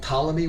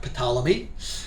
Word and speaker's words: Ptolemy: all the kings are called Ptolemy with a silent P, not Ptolemy, like psychology, And in the east,